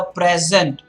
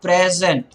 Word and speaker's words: present: say she received the present then it is more like the present what's interesting is it not present is the verb form and present is the noun form so basically just to